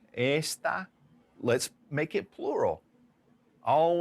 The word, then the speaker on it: está: you start to see how those 2 words are spelled the same. They're actually pronounced the same, but the emphasis is different. All right, to this. Now, got those down? Este, esta.